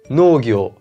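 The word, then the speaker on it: のうぎょう: Et pareil pour no-u-gyo-u, qui devient no-gyo, no-gyo. Tu l'as compris, pour bien prononcer sayonara comme un vrai, il suffit de dire sayonara, sayonara.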